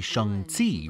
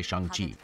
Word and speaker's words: Shang-Chi: could but you know it's supposed to be shangti right or but that sounds wrong when i say it so i'm just gonna say shang chi okay i was getting